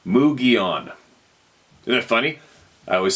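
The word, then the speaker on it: Mogollon: I spent a lot of time in the mountains of Arizona and the Mogulon pronounced Mugion.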